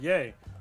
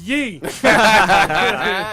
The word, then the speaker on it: Ye: just do that oh I'm sorry he is pronounced yay no it's not is ye correct info ye ye I'm gonna go buy